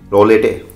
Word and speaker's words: Roulette: रो शायद टी T silent होगा, रोले रो लेते हैं। नहीं हो पा रहा है, हमें लेनी पड़ेगी सहायता गूगल वाली बड़ी बड़ी होटो वाली दीदी का। जरा उनसे सुनते हैं कि इसकी प्रोनाउंसिएशन क्या है। ट्रूलेट ट्रूलेट ट्रूलेट। अरे ये तो आसान है, रूलेट।